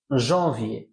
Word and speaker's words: janvier: এ ও এর, এ, তাহলে জানুয়ারির ফরাসি হয়ে গেল janvier।